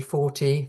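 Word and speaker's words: forty: 14 being 14 or 40% 4 with your stress being on the first syllable.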